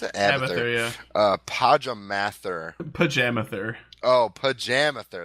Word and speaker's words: Abathur: Is that how you pronounce it? Abathur, yeah.